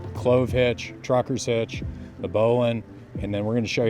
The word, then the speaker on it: bowline: It's spelled Bowline. It's pronounced bowline.